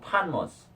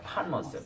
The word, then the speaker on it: Patmos: 발음 안 합니다. 이거. Island. Island of Patmos. Island of Patmos. 네, 여기 반모섬 나오죠, 그죠? 네. 파모스. 판모스예요. 판모스.